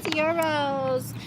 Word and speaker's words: gyros: I would say um like food-wise, I like gyros the best. I know people call those all different things and tell me I'm saying it wrong all the time. It's euros. Gyros.